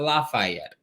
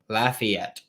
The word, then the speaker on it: Lafayette: Walker Howard in Lafayette, which is how it's pronounced, apparently. Not Lafayette, Lafayette.